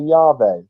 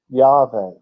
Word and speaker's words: Yahweh: It says, the original pronunciation was most likely Yahweh, Yahweh, Yahweh.